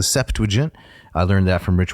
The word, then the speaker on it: Septuagint: Notice 3 syllables. The Septuagint.